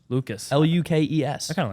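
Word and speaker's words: Lukes: and then whoa what his last name is not pronounced Luke's it's pronounced Lucas Lucas l-u-k-e-s I kind of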